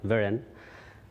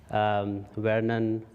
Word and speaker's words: Virin: Thanks, Kath, for correctly pronouncing my name, Virin. I get lots of different versions when people hear it for the first time, because it's quite an uncommon name. Vernon, Virgin, which I don't mind because